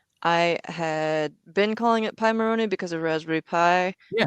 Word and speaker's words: Pimoroni: I had been calling it Pimoroni because of Raspberry Pi. Yeah. Turns out it comes from Pirate Monkey Robot Ninja.